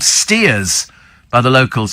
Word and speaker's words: Staithes: Steve, Staithes near Whitby is called Steers by the locals, says Peter. Prass Sands near Penzance, pronounced Pray Sands.